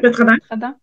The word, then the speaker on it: Vétradent: Est-ce que les lingettes Vétradent, c'est comme ça qu'on prononce? Oui, Vétradent.